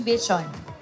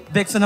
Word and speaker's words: VXON: Paano ba nyo naisip yung Vision? Yes po, so marami nga po nagtataka kung bakit ganun yung spelling VXON. So akala nila, VXON ang pang-pronounce nun.